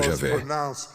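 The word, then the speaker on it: Javé: Realmente foi pronunciado Jahé. Como respirar? Como respirar.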